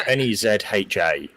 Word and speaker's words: Nezha: I think they called it Nisa, but I want to hear a Chinese person say it before I say what it's called. It's Nezha.